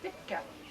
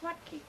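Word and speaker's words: Wuttke: W-U-T-T-K-E, pronounced in German or Polish, Witka. Pronounced in English, Watke, W-U-T-T-K-E.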